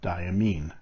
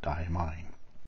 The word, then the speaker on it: Diamine: merlot i've been told that that's how to pronounce this name diamine not die mine now it's pronounced igor but they told me